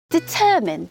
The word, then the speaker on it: determine: 하면 안 돼요 악명 높은이라는 단어는 infamous infamous고 발음합니다 determine determine이라고 발음을 합니다 알아내다 결정하다 확정하다 동사 determine